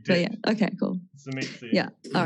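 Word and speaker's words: Tzimisce: I just want to confirm for everybody that regardless of Yeah. what anyone has ever said in the past, it is not pronounced Shimashe. And you can find me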